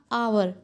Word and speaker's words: hour: तो आवर की HOUR है, लेकिन इसकी साउंड हम कैसे निकालते हैं, कैसे प्रोनाउंसिएशन करते हैं इसका? आवर।